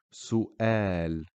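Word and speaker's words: سؤال: the letter wow here we completely ignore the wow so the word is pronounced Su El so if you notice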